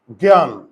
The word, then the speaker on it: জ্ঞান: হবে তাহলে এই যে গ এর উপর চন্দ্রবিন্দু আর জ ফল আগে বুঝো আর এখানে আকার আছে আকারটা আমি নামিয়ে আনলাম জ্ঞান ন এর নিচে হসন্ত দেব আমি কিন্তু বারে বারে